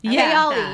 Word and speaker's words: Kayali: Kayala. Thank you. Kayala, yeah. Her fragrance line. Yeah. The Middle Eastern girl. Like, yeah, no, I hope I said it right. But yeah. Kayali. Kayali, yep.